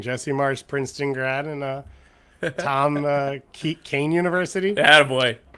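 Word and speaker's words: Kean: There's just 2 guys from New Jersey disagreeing: Jesse Marsch, Princeton grad, and Kane University. Attaboy. You got it right. There you go. I got the pronunciation right at the last second.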